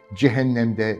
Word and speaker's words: cehennemde: Devrik bir cümle ve cehennemde nem kapalı olarak telaffuz edilir.